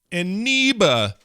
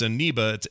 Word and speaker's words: Eneba: through Aniba. Aniba. See what I mean? You don't know that name, do you? I don't know that one. That one. Now I'm curious. Yep, it's Eniba. It's spelled ENEBA.